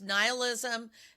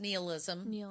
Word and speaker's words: nihilism: can also be pronounced neoism um which is how they pronounced it in the movie and I was like what I've always thought it was nihilism um it is actually pronounced both ways uh is the rejection